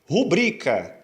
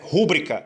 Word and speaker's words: rubrica: Rubrica não é rúbrica, é rubrica. É também uma paroxítona. A sílaba tônica é o bri.